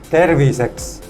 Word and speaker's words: terviseks: Terviseks.